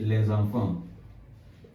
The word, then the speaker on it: les enfants: Let's say les enfants. Les enfants. Les enfants. And I want to tell you the reason why I'm pronouncing this S in les enfants.